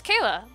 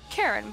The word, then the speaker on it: Kayla: get it straight Keira my name is Kayla that was clearly pronounced in my video or your humble host or chambers I don't give a damn it's not Karen but you're trying to